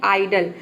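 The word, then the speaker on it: idle: प देख सकते हैं आइडल आइडल मतलब होता है ऑल थ्री आइडल में शुरू में आई आया है शुरू में तो यहां पे हम आई को आई प्रोनाउंस करते हैं आइडल का मतलब होता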